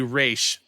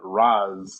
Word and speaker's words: Ra's: the place right now, there you say Raish because that's how you say it. So Raish is proper, and then Raz is the Gothamized version of it.